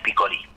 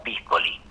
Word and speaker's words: Piccoli: por Brigitte Bardot y Michel Piccoli, o Piccoli, si lo pronunciamos en italiano.